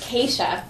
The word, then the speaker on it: Kesha: your name right I've often wondered is it k sharkeisha Oh Scott you can pronounce it any way you want it's k chef very good for the viewer name is it